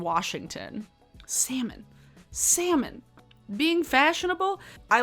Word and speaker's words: Washington: But yeah, anybody who says salmon or Oregon or Washington, why? There's no R in Washington.